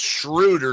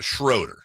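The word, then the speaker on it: Schröder: So it's a but it's pronounced shruder not shroeder or shraider or shraider.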